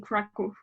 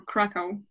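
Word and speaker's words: Kraków: Yeah, in Warsaw, which is the capital, and in Krakow, which is, or Krakow, however you want to pronounce it, which is the second biggest Polish city, I believe.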